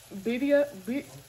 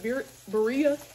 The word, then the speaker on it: Birria: What's on my bucket list to try still is Birria. Some people pronounce it Birria, but I think it's pronounced Birria.